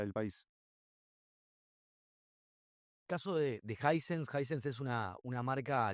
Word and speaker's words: Hisense: y era básicamente que la gente no sabía pronunciarla. No había gente que le decían Hisense, Hisense, Isense, Aisense. Creo que eran muy poquitos los que realmente le decían Hisense.